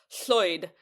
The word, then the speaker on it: Lloyd: Lloyd and Floyd, because if you pronounce Lloyd in Welsh, it's Floyd.